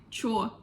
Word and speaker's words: что: Okay, the word что we pronounce sometimes like чё.